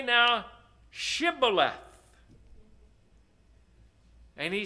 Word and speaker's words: Shibboleth: unto him, "Say now Shibboleth." And he said, "Sibboleth." Whoops. That's not the same way. Why not? He did not manage to pronounce it rightly. He couldn't put that H in there.